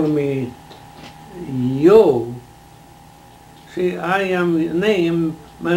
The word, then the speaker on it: Jost: You never heard a Swede say or a German say Joe with a J. It's Yo.